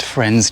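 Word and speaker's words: Frenze: So we are 22 km into the walk today and we've just arrived here at Friends Church and that's spelled F R E N Z E.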